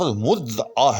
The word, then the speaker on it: مدعا: یہ بھی غلط ہے۔ اصل لفظ مدعا ہے، یاد رکھیے گا، مدعا نہ کہ مدعا، یہ بھی غلط ہے۔ عین جو ہے بیچ میں اس میں شامل ہے لفظ کے اندر، آپ نے اس کو جو ہے وہ بولنا پڑنا ہے۔ اس کے بعد اگلا